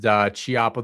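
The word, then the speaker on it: Chiappa: It was pronounced Chiapa the whole time.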